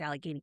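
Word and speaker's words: Allegheny: We know it's Alageney County.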